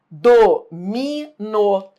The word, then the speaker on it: domino: Domino. Em domino, do verbo dominar, eu domino o território.